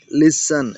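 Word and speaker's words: listen: लिसन। यह लिसन नहीं है। टी साइलेंट है।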